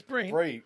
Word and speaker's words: Bryn: Is it Bryn or is it Bree? No, it's Bryn.